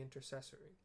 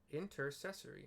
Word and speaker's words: intercessory: Comforts pray inform the night stationed outside the intercessory intercessory I pronounced that right even though I've never heard